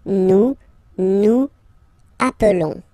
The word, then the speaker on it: nous appelons: Nous appelons, and then little link would be perfect, so let's pronounce the whole thing again. Nous appelons, nous appelons, okay, final S doesn't exist.